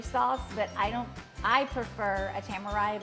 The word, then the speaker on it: tamari: So I say tamari, and you say? Tamarind. Like samurai, you know, samurai.